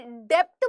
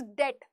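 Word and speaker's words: debt: इसको प्लीज कोई डेप्ट मत पढ़ा करो बी के साथ, दिस इज डेट, DET। जैसे डाउट बोलते हो ना, बी साइलेंट कर देते हो, वैसे डेप्ट में भी बी साइलेंट कर दिया करो, इट्स डेट, है ना?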